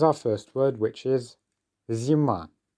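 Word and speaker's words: зима: So, here's our first word, which is zima. Zima, which quite simply means winter. It's the season, the name of the season, winter. It's a feminine noun and our stress is on the end, zima.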